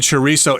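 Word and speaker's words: chorizo: well in Mexico and if you're speaking Spanish the Z there or the Zed will have kind of a th sound cho cho but most people and Mexicans as well just say chisso so with an S sound and if you say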